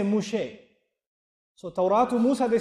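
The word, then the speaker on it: משה: does Musa mean and they don't say Musa in Hebrew they say mushe so mus they said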